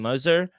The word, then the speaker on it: Mazur: How do you pronounce his name? Mazur.